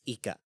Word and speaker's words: Ykka: It's odd spelling. It's YKKA. Yeah. It's Ika.